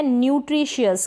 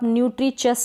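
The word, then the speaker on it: nutritious: अब यहाँ पर नेचन नहीं पढ़ेंगे, यानी टी को च नहीं प्रोनाउंस करेंगे। नेक्स्ट है, ये है न्यूट्रिशियस, क्या है, न्यूट्रिशियस।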